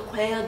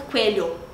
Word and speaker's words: cuello: Quero respirar tu cuello despacito. Porque quando tem dois L's, é tipo como se fosse o LH pra gente. Aí também não fica coelho. Coelho. Fica tipo coelho.